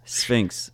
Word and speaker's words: Sphinx: about it not pronounceable you just said Fink's Sphinx shrinks Sphinx it stinks it's like the cat the Egyptian cat statue and the website is